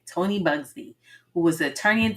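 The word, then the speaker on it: Tony Buzbee: Tony Bugsby, who was an attorney in Texas who brought like over 125 cases against Sean Combs, aka Diddy, right?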